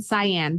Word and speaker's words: Cyan: So it's Cyanide in the Audible, and then Cyan for her nickname. Oh, Cyan. Okay. Yeah.